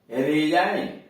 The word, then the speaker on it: resign: अब यहां देखिए RESIGN, रेजाइन। रेजाइन यहां जी साइलेंट कर दिया गया है, त्याग पत्र देना, रेजाइन त्याग पत्र देना, इसमें जी साइलेंट है।